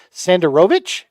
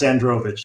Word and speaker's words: Sandrovich: in your name deal sander rovic did I say it right let's find out yeah that's close sandrovich sandrovich okay I just added a vowel that's all yeah all good